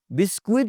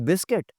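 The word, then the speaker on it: biscuit: यू जी, बिस्कुइट नहीं होता, इट्स बिस्किट।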